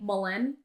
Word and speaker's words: Melynn: I'm Melynn, and it's pronounced that way, by the way. It's Melynn.